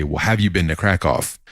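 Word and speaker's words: Kraków: have you been to Krakoff it's it's spelled Cracow the locals call it crack off but it they would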